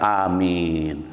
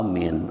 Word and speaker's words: Amin: panjang banget juga itu cukup dua harakat Amin jangan Amin ah itu salah harusnya a-nya panjang dua harakat minnya itu disesuaikan nah